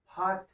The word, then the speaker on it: fought: और जब GH किसी शब्द के बीच में आता है या मध्य में आता है तो उस GH का उच्चारण हम नहीं करते।